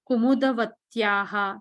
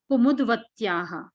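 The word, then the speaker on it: कुमुद्वत्याः: Kushasya Kumudavatyaha. See, there is no Kumudavatyaha because Dakara and Vakara are together. So how do you pronounce it? Kumudvatyaha.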